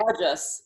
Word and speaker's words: rajas: right so um raaj Raja yoga is a long ah it's Raja that means king and rajas the the Guna is a short a okay there actually two